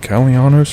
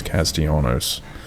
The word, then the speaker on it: Castellanos: What is it, Calianos or Castellanos? I think it's Castellanos. I don't think they pronounce the L's.